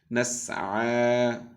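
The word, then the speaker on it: نَسْعَىٰ: নাসআ পড়ুন। এই ইয়াটা এখানে ইয়ার মতো যেটা দেখছি এটা কিন্তু ইয়া না, এটা এটা দেখতে এরকম লেখার জন্য এসেছে, মূলত আমরা আইনের উপর খাড়া জবর দিয়ে উচ্চারণ করবো।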